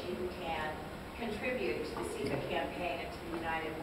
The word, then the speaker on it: SEFA: And it's SEFA with a long E and a soft A.